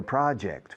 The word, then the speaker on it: project: The project, fijaos la pronunciación, ni pronuncio yo. Project, no digo project, porque es una J en inglés. La J suena j. La J es una che.